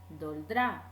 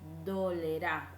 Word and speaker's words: dolerá: La conjugación incorrecta, lo que no se debe decir es doldrá. Eso no se dice. Se debe decir dolerá.